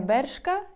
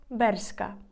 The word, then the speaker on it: Bershka: він ось так але іспанці кажуть не Bershka як ви це говоримо Ми А берська берська більш через букву с Берка також ще ось